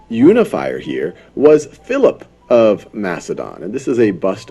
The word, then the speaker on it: Macedon: full control and becomes king of Macedon or Makka Don as it's often pronounced in 359 BCE and what